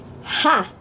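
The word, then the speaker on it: Х: this is their letter H well it's actually pronounced I had fun practicing saying this letter because I like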